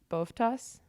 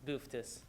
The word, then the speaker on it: Boftas: Senator Boftas. Here. Is that correct? It's Booftis. Booftis?